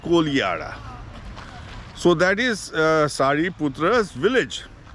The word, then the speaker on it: Kodihara: It is written Kodihara, but pronounced Kolihara.